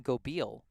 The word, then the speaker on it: Gobeil: And the shortstop, number 8, is pronounced Cam Gobeil.